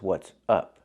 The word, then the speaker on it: what's up: ah it's open and the phrase is what's up use the short uh sound like cup and up it's more closed and relaxed